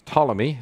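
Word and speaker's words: Ptolemy: pomy or toomy Kingdom it's spelled with a p in the front but I think the way you pronounce it is Tommy depending where you're from some places that's bomy Ormy but the two key kingdoms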